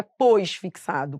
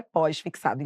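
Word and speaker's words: pós-fixado: tudo junto só que a pronúncia correta é pós fixado então agora qual vai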